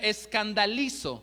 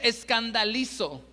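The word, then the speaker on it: σκανδαλίζω: El original griego es una palabra que se escribe o suena escandalizo con K. Si me ayudan a escribirlo ahí, escandalizo con K y Z.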